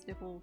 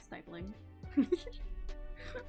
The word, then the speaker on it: stipple: I think that word's pronounced stipple, but my art teacher in high school, I'm pretty sure called it stipling. So I always thought it was pronounced that way for a while, but everyone else I've heard pronounce it says stipple, so I think it is stipple, and I don't know.